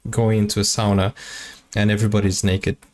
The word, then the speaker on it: sauna: when they go to sauna that's not sauna it's sauna okay sauna sauna is the Brazilian Portuguese pronunciation sauna um so you guys